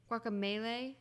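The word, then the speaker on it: Guacamelee: It's guacamole. Guacamole is a food. Guaca Melee.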